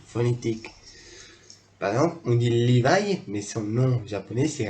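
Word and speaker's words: Livaï: Mais on a aussi Levi, qui s'écrit R-I-V-A-I-L-I-L-2-L-E. Levi, comme la marque Levi, sans le S à la fin.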